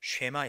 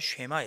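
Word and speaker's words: שמע: 내 말을 잘 듣고 할 때 잘 듣는다는 말은 쉐마 이렇게 발음하죠. 듣는다는 말을 쉐마 이렇게 발음하는데 그 뜻은 단순히 귀로 어떤 소리를 듣는다는 의미가 아니고 이해하고 이해한 후에 순종하다, 실천하다, 그런 뜻이 쉐마라는 단어의 의미입니다.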